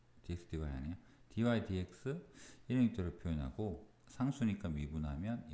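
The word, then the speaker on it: dy/dx: dx분의 dy는 제가 버릇처럼 쓰는 거고, 공식 명칭은 dy dx 이렇게 위에서부터 읽으면 됩니다.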